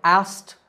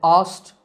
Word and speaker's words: asked: The trick to saying it correctly is to make the K silent. So it sounds like asked in American English and asked in British English, but in both we don't pronounce the K.